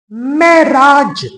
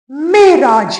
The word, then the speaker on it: معراج: مثال کے طور پر ایک لفظ عموماً غلط بولا جاتا ہے معراج، اس کا صحیح تلفظ معراج ہے۔ اسی طرح لفظ غلط